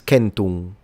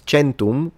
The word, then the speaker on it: centum: 100 is kenu and in classical Latin is kenum and then in ecclesiastical Latin it becomes kentum. Centum because it's an Italian pronunciation and in Italian we say chento.